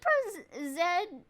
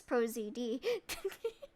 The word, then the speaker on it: ProZD: Is it ProZed? I don't know how to pronounce his name. Voice, but he also has one of those voices that is, oh, that's ProZD. Okay, you about done there, Miles?